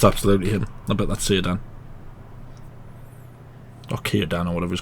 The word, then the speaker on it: Círdan: if it's got a C on the beginning, you never know if it's S or C that it's pronounced. So why would he go to him?